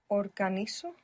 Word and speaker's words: organizo: Organizo. Organizo. Good. Organizo. I will just mention for anybody trying to keep up with the Spanish pronunciation that Z there is going to be pronounced th. Organizo in Spain.